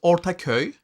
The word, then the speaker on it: Ortaköy: And we went to Ortaköy Did I pronounce that okay? It's fine. It's Ortaköy, He but did that better.